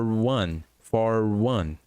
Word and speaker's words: one: E se lembre que one tem som de U no início, então for one.